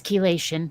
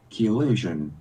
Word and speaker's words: chelation: heard anybody speak it yeah it's chelation okay fine I understand corrected yeah it's I'm looking at these how to pronounce sites and key illusion yeah oh man they're